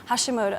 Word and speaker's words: Hashimoto: Hashimoto.